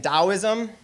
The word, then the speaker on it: Taoism: So in Taoism, it's spelled with a T but pronounced with a D.